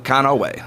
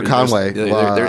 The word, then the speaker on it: Conaway: Hello, Conaway. Or Conway. There's an extra A in there.